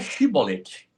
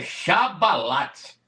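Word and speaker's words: שבולת: Os pastor também fala chibolete, mas não é chibolete.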